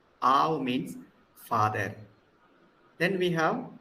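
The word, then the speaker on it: אב: It is ow, because aleph is silent. So we begin with the vowel a, then we end with uv. Aw. Aw means father.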